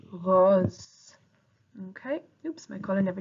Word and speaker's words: rose: In French we pronounce it rose.